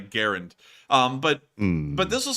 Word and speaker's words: Garand: in his grave considering how many people call it a grand and not a Garand um but but this